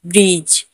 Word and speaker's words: bridge: जैसे BRIDGE, ब्रिज। ब्रिज ने भी जी से पहले डी है तो हम डी का उच्चारण नहीं करेंगे, हम इसे ब्रिज पढ़ेंगे।